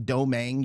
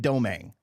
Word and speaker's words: Domangue: So like all good Cajuns from Cajun country, it's not pronounced like it looks. It's let's say doe like deer, mang like tang, Domangue. You put them together, that's what you get. So it's Domangue.